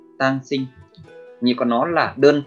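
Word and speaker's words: 単身: Cách đọc của nó là tang sinh, tang sinh.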